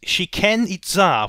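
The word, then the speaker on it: Chichén Itzá: Our last destination in the game, the furthest point from the city, is Shiken Itza, which I looked up how to pronounce beforehand to avoid me making it sound like an ancient Mayan poultry fast food restaurant.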